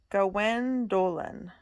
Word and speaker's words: Gwendoline: Gawain and Gwendoline. She pronounced the second dragon's name Gwendolen.